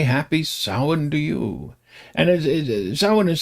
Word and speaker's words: Samhain: And Sin is spelled Sam Hayne, right?